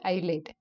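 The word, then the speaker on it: ILATE: the function given by i l a t e pronounced as ielt here I stands for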